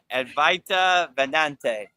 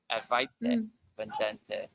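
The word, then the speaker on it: Advaita Vedanta: Oh, I just Ryan Shaw says Avedante Vedante. How do you say that? Advaita Vedante. Yeah. Advaita Vedante.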